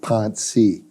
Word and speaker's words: Panchy: Probably, if it were spelled in Albania, it would be P-A-N-C Cedilla I, and it's probably pronounced a little bit more like Pansy rather than Panchy.